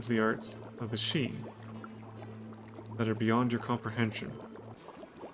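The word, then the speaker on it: sidhe: the Arts of the she that are beyond your comprehension and yes that is how you pronounce that word it is pronounced she it's um hetic uh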